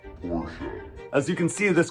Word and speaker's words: Porsche: out hey it's Adam and Jeremy and it's pronounced Porche as you can see this car behind us